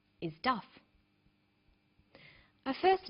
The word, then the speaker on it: Duff: name is jacques and his last name is duff a first name is sometimes called a christian